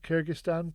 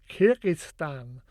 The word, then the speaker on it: Kyrgyzstan: No, Kyrgyzstan, I replied, trying to wrap my tongue around the challenging Russian vowel "i" in the first and second syllables.